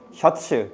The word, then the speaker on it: 셔츠: I know it's English, but you gotta pronounce it like Korean. 셔츠, do not say shirt.